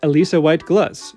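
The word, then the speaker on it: Alissa White-Gluz: They collaborate with Alisa White Glutz, who I finally heard say her own name and know that I have been mispronouncing it for years. Don't worry though, how I just said it is the correct way.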